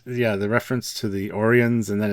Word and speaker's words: Orion: was great and yeah the reference to the orians and then it's even said in one episode It's pronounced to Ryan you idiots I thought it was great and